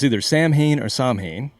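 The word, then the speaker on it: Samhain: church but originally the pagans it was called sawin and it actually looks like Sam ha is the way it's reads phonetically so we're going to talk about okay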